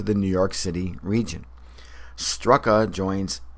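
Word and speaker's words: Starrucca: in our Northern regions whose pronunciations bear little resemblance to their spelling since strua looks phonetically like Stuka equino like equinunk and chug nut looks like choconut where famed Aviator Charles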